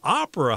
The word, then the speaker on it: opera: The accent is on the first syllable here. Opera.